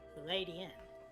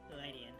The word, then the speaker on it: Ledian: But because it's not, like, a steel type, calling it lead in doesn't really make sense. But it is a ladybug, so Ladian, with, like, a kind of soft E, you know?